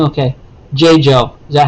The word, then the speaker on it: Jeju: view not that really matters but j jo pronunciation so i said wrong okay j joe is that how you say it okay thank